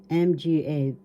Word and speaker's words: mga: When you have S there, that means plural, and S represents mga, MGA. This is pronounced mga. That means plural.